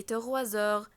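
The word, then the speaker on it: trois heures: إلي تغوازور، لما اجي انطق على بعض حرف الاس هيتنطق زد زي ما قلنا عشان بعده حرف فويل.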